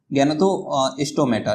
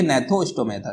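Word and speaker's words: Gnathostomata: है एंगेथा और है गैनथोस्टोमेटा, ठीक है। इसको जो है जी साइलेंट रहेगा, इसमें आपका जी जो है वो साइलेंट रहेगा, तो इसे पढ़ेंगे नैथोस्टोमेटा, ठीक है। गैनथो नहीं पढ़ेंगे, नैथोस्टोमेटा।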